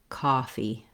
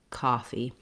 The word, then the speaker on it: coffee: long-winded way of saying let's try the ah vowel then build from there ah coffee coffee so sometimes thinking of